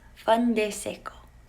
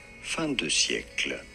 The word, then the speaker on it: fin de siècle: Culture at the, I'm going to butcher this, Fin de Siècle.